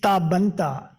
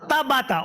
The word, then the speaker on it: Tabata: We have two persons with disabilities from Japan in this room, Professor Inoue and Miss Tabanta. Am I pronouncing the name right? Nearly. Could you correct me then? Tabata.